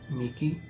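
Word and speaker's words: mihi: La letra H se lee como K en las palabras M-I-H-I, Miki, o Nikil, N-I-H-I-L.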